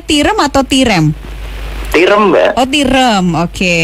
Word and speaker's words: Tirem: Iya, bacanya Tirem atau Tirem?